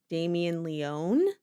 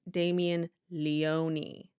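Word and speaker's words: Damien Leone: the episode so anytime you hear us saying Damian Leon it's Damien Leoni that's the correct pronunciation of his name Leon replace that every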